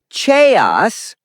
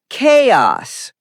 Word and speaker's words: chaos: Wrong is chaos. Correct is chaos. Example, there was complete chaos in the classroom. Ch is pronounced like K.